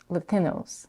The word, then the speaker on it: Latinos: The standard way to pronounce the last syllable of Latinos in English is with a diphthong O, but Eva reduces it